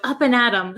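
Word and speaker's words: up and at 'em: and at them but we don't pronounce it them we say m we take off the th sound so up and atom sounds like you're gonna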